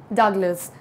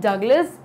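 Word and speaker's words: Douglas: Wordsworth, या fourth William डगलस। So option number D, William डगलस या डूगलस, जो भी आप प्रोनाउंस करना चाहें, both the pronunciations are correct.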